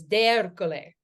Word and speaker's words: D'Ercole: And the proper Italian pronunciation is D'Ercole.